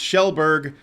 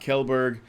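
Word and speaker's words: Kjellberg: French Honey Badger gives us $2 and corrects me on my pronunciation and says it's pronounced Shellberg, not Kelberg.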